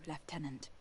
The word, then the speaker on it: lieutenant: sorry captain thank you leftenant the way they pronounced lieutenant is bothering me Paul Raynor if